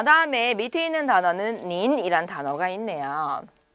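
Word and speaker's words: 您: 발음은 바로 닌이라고 했습니다. 닌, 네.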